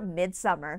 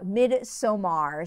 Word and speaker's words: Midsommar: five, I have newcomer Midsommar. All right, I've said Midsommar once, I'm going to say it properly now, Midsommar.